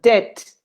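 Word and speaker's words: debt: that funny funny word death without the bee a death but we don't pronounce the letter b so dit is like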